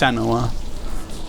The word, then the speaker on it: Senua: It's pronounced Senoa or we pronounce it."